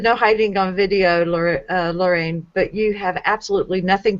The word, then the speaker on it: Lorane: And it's the second syllable of my name. It's Rain, Lorraine.